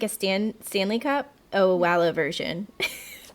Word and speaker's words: Owala: Oh, it's actually, I had to Google the pronunciation before we started this. It's, I believe, Owala.